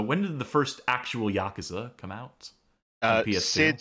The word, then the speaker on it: Yakuza: And remember, this is a 2005 release, so when did the first actual Yakuza come out? Sid says this was published in Europe, so it's pronounced Yakuza.